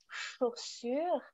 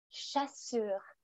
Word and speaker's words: chaussures: c'est vrai et moi je vois souvent avec chaussures que mes élèves disent souvent chassurent chaud chaussures donc il